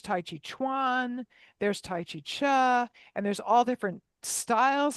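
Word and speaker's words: Chih: But it's pronounced cha like uh almost like ch ah or maybe even like chuck wagon without the k.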